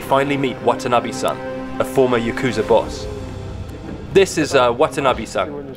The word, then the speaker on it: Yakuza: that can be drawn is 893 pronounced Yakuza in Japanese that adds up to